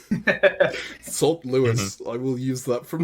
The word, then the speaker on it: Saint Louis: If I'm pronouncing this Louis, it should be Sant. It should not be Saint Louis. That is the issue that I've been having. The comments of us giving it the French pronunciation of Louis and the English pronunciation of Saint. Sant Louis.